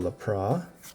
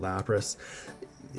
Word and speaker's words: Lapras: yeah there we go lapra I call it lapra I know everybody calls it Lapras my my pronunciations being